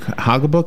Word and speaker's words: Haugabook: And to your right is Haugabook.